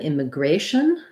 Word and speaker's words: immigration: to our last topic if i look at then immigration my a in immigration m the gray syllable is stressed and then i have the clear vowel a versus in this